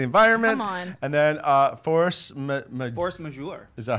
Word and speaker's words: Force Majeure: And then force majeure.